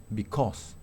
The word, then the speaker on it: because: pronunción alternativa sobrepuso aquí generalmente como es una palabra estructural suele pronunciarse con sua pero si le ponemos el estrés es because ricos picos nicols australia